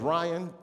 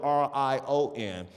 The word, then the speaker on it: Rion: My name is Ryan, but it's spelled R-I-O-N. And I take time to spell it because some people are stupid. That's the main reason, I promise you. Because some people see it, R-I-O-N, and like, that's not Ryan, that's Rion.